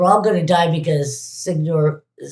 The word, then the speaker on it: Sigourney Weaver: And the larger picture is they're all going to die because Signori, how do you say her name? Aliens lady. The what? Sigourney Weaver.